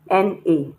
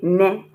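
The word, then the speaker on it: 呢: The same way you pronounce na as if it is N-A. You don't say ne, you say na.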